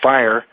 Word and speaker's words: FHIR: But I pronounce it FHIR, as John mentioned earlier.